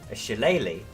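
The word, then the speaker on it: shillelagh: you mean shitty no shilleli I'm from the UK I know it's pronounced sheleighly is an Irish Club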